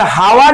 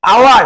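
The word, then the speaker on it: hour: তাহলে এগুলো একটাও হনেস্ট নয়, অনেস্ট, হনারেবল নয়, অনারেবল, আর হাওয়ার নয়, আওয়ার।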